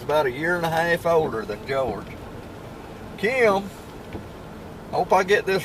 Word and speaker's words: Jorge: I spell it like Jorge, but people calls him George. The way we spell it is Jorge, which in Spanish is Jorge.